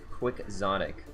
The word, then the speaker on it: Quixotic: And apparently it's pronounced Quixotic.